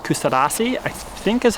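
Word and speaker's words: Kuşadası: So there's a port town called Kustadasi, I think is how you say it, just about 30 minutes drive away.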